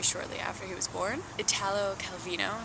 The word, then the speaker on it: Italo Calvino: after he was born Italo Calvino I believe is how you say his name but I'm sure there's